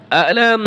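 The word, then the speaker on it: أَلَمْ: রাজিম বিসমিল্লাহির রাহমানির রাহিম আলাম দেখেন এই আয়াতটার ভিতরে কোথাও টান নাই আলাম হবে না আলাম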